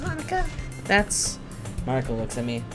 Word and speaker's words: Monika: piano that's where you play music as well monica uh i don't really i just started recently i always wanted to learn piano that's so cute you should play something pronounced monika that's marco looks at me maybe once i